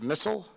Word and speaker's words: Mell: by the way Mr Mell yes is that did I get it right is that how you pronounce it that's how you pronounce